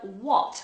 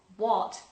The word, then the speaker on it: what: And finally, the word what, which for us has the same vowel O, what, but in America changes completely to What? what? What? So that sounds almost like a U, doesn't it? What? Like a schwa. Say what? Say what? Mm-hmm. Okay, but for us it's O, what.